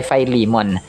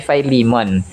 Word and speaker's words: Philemon: So ito po mga Kos unang-unang pag-pronounce po dito sa American English ay philimon no philimon kung sa tagalog mga customers or sa Ilonggo. Pero kapag sa American English ay fimon ah chapter 1: 4 hanggang 7.